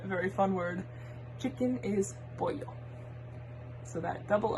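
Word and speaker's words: pollo: this is another very fun word chicken is boil so that double o is kind of like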